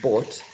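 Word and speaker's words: bought: Um, Now, in this question, how many speech sounds are there in bot? Bot. We understand that bot is spelled B-O-U-G-H-T. That's how this word is spelled, right?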